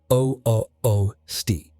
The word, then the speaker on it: Ústí: Towns like Postelberg, Ústí, pronounced O-O-O-Sti, and Přerov, pronounced P-R-E-H-Rov, became scenes of massacre.